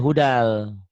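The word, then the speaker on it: هدًى للمتقين: Ditulisnya, dibacanya hudal. Kenapa yo?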